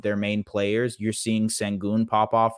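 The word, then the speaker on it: Şengün: main players you're seeing sangon pop off right now or shenon pop I'm sorry I do the Turkish pronunciation shenon pop off uh because of the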